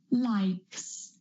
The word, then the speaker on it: likes: Like is a voiceless sound at the end. So when we add that S, it's going to be likes. Likes is going to be a S sound.